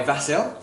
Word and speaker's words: Vasil: And it's performed by Vasil. Like Basil like Basil. Basil like Basil. Apparently is how you pronounce it.